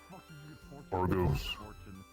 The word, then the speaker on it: Argos: Argos.